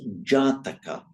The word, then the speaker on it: Jataka: I mean, Natar, or how do you pronounce that? Nyata. N-A-T-A. Nyataka. Nyataka. Is it related to birth? Oh, that's Jataka.